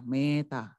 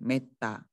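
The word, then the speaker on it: metta: Contohnya seperti kata meta. E-nya di sini bukan dibaca meta, bukan, tapi meta.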